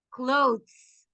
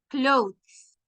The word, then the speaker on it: clothes: But the way to pronounce it, imagine that you have a letter D, clothes. Al final hay una D y una S, clothes, ¿ok?